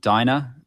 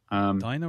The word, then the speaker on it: Dinah: But I mean, you've got on the space station, you've got Ivy and Dinah. Dinah or Dina? I can't remember. I've always pronounced it as Dinah, but D-I-N-A-H, isn't it?